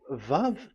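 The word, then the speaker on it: ו: So according to the old Hebrew word today uh those who the owner of the words I mean so it's a V. So don't change it into W and you will say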